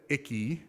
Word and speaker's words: Icke: So our good buddy David Icke, I believe that's how it's pronounced.